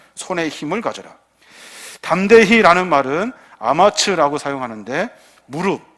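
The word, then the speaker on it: אמץ: 담대히라는 말은 아마츠라고 사용하는데 무릎, 이 무릎에 힘이 있는 상태를 말해요.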